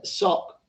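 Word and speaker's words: סֹךְ: see the word we have as pavilion uh sock it's just odd that god hides in his sock but language is funny like that isn't it uh the word that we have translated is pronounced sock but it's literally the lair of a wild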